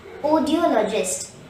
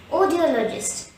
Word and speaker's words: audiologist: d all are just the stress is on the third syllable all and there is one schwa in this word hence the correct pronunciation will be audiologist repeat after me audiologist audiologist to sum up an